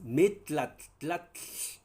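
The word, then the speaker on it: metlatl: Metlat, esa tat es un sonido propio de la lengua nag. Entonces, uno que no es naguablante le va a costar, por supuesto, pero un naguablante lo va a pronunciar de manera tranquila y sin problema.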